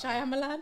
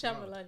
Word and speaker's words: Shyamalan: Shyamalan. Wow. M. Night Shyamalan. That's Shyamalan, yeah.